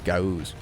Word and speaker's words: gauze: It's not Guaz. It's Gauze. Don't look at me, I don't know how to spell the word gauze.